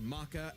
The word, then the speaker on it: Maka: Ruby Rose and not that Ruby Rose versus Ma Ma Maka Alb Maka Maka Albar, how the you say her name?